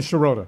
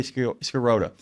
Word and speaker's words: Sherota: Um, say his name for me, Sherota. Sherota. I always say Skoda. And it should be not my Shirro.